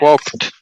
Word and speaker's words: walked: Walked. Yes. Walk. Exactly. Walked. Walked. Exactly. Because has no voice to it.